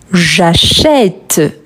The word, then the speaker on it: j'achète: Mais quand je le prononce, je dis j'achète. J'achète, c'est un son ouvert.